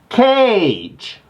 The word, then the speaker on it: Kage: of all he chooses the name kage which is spelled k-a-g-e which can also be pronounced as cage i wanna put all